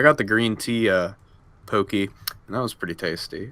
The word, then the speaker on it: Pocky: have to get Pocky it's actually pronounced pokey be